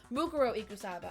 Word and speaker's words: Mukuro Ikusaba: I want to say her name wrong. Mukuro Ikusaba.